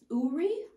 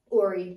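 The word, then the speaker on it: Oori: knowledge yeah so uh suka says that it's actually ori uri uri ori it is already okay it's spelled o-o-r-i so that's why i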